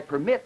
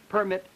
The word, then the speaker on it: permit: rigid requirement we would we couldn't make the contrast for instance between uh I permit and one permit in other words the word permit is a noun but in I permit where the primary stress is on the second syllable this turns it into a verb permit permit two different